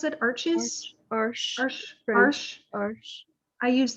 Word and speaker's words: Arches: I use, how do you pronounce it? Arches?